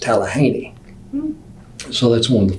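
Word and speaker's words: Talihina: And my first assignment was in Tallahena, Oklahoma. That's what everybody calls Tallahena. The locals will tell you it's pronounced Tallahaney.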